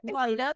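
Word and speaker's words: Laita: Leiter, that's how he pronounces his name.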